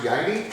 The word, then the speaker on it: Jeude: So the last name's kind of weird, Jeude, but it's pronounced Jeude. So when we meet people for the first time, we ask them to think about the little Swiss girl that lived with her grandpa in the Alps, Heidi.